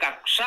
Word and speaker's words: कक्षा: का और सा है अब जिनको य जानकारी नहीं है कि इसमें का और श जुड़ा हुआ है तो वो छ या कोई और वर्ण बोल सकते हैं जानकारी ना होने के कारण शु उच्चारण हो जाता है कच्छा अलग शब्द है जिसमें आधा चा और छ है वो एक वस्त्र है पहना जाता है कच्छा उसमें चा और छ है एक कक्षा है जो ग्रहों का परिभ्रमण